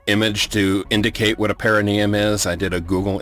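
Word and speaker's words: Parrinium: planet excellent is perineum perineum the actors had to be very careful to put the emphasis on the correct syllable because if they didn't say perineum they'd wind up saying perineum and every time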